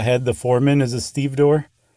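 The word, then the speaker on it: stevedore: The one who's like the head, the foreman is a Steve door. Okay. You said that earlier and I pretended like I knew what you meant. So, it's it's spelled exactly like it's pronounced, too.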